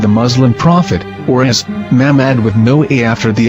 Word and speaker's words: Muhammad: the name of the Muslim prophet or as Mahmad with no A after the H. According to Ben Yehuda's Hebrew English dictionary, it is correctly pronounced as Muhammad, not MMA.